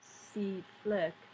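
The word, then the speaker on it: CFLCC: And it was just a matter of weeks before the coalition forces Land Component Command, pronounced CFLIC, had taken control of most of Iraq.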